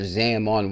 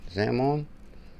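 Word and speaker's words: Xaman: self custody XRP wallet and that's called your Zamon wallet. As a matter of fact, the proper spelling is what? Zamon. What? How do you spell it? Zaman nun. Zamon.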